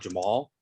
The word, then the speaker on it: Cemal: job interview itself and you see how my name is spelled cemal actually pronounced jamal and so i created